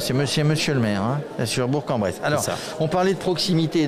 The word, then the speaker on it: Bourg-en-Bresse: bonjour bonjour qui est sur la ville de Bourg-en-Bresse il faut prononcer comme ça vous êtes chargé de la